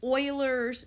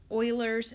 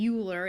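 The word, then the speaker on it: Euler: lowercase e and this little e is called Oilers number Oilers number named after the mathematician that had published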